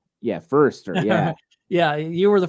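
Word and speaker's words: Foerster: said fer I always want to call him Forester because that's what it looks like and I know somebody with the last name Forester but he does pronounce it firster right yeah firster yeah yeah you were the first one to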